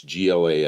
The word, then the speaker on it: Glas: Glass S. It's pronounced glass.